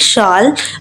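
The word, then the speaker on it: shall: Question number 8 देखिएगा, till up इन the morning the blank शाल arise. तो यहाँ पर सन शाल अराइज होगा, शैल भी बोल सकते हो, शाल भी बोल सकते हो, दोनों ही करेक्ट प्रोनाउंसिएशन है।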